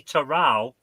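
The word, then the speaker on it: Toral: Just how as it's pronounced. Gorilla, should we give her this point? Because Uh, the answer is actually Terral.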